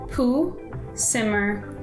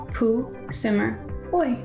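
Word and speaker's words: Pahsimeroi: what i'm getting from google so next one pooh simmer it is a river in custer and lemhi counties um and it's actually a shoshone name so it is native american poo simmer there you go so this next one i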